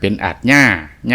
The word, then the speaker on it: อาญา: เก่า ๆ ก็ สิ ออก เสียง โต ยอ ผู้ หญิง ขึ้น ดัง ตาม แบบ แผน บาลี แล ก็ ตาม แบบ ของ การ ออก เสียง ยอ ดังง เดิม ของ ลาว ก็ สิ เป็น ตัว ยอ มัก สิ ได้ ยิน คำ คน เฒ่า คน แก่ นั่น แหละ ครับ เพิ่น เอิ้น หรือ ว่า ออก เสียง คำ ว่า ยา นี่ ว่า ยา จัง เป็น อาญา ยา ท่าน จังซี่